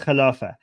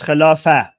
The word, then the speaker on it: Khilafah: So English is caliphate, Persian is Khilafat, Arabic is Khilafah. So without the t sound at the very end.